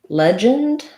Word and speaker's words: legend: in the word legend we have first syllable stress that first letter e says f like in red or lead this letter j i mean this letter g says the j sound which you might associate with the j um that's